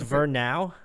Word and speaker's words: Verão: It's Verão. Verão. Like I can't roll my R, so I'm fucked.